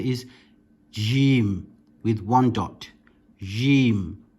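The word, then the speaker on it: جيم: Next letter is jim with one dot. Jim. Again, it can be stretched and not just jim, but jim.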